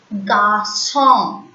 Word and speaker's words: garçon: When you place S below the alphabet C, that C will be pronounced as S. Garçon, garçon. Français, français.